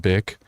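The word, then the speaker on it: Bich: Her name is spelled like bitch, but it's pronounced bick.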